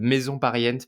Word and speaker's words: Maison Pariente: nom, en tout cas ça se prononce comme ça? Maison pariente. Ouais, Maison on dit ça pariente. comme ça. Certains mettent un petit accent, mais en disant maison pariente, ça fonctionne très bien.